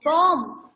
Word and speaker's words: bomb: बट we would not pronounce the letter B। Okay B को हम pronounce नहीं करते, BOM ही बोलते, बॉम ही बोलते हैं, बॉम।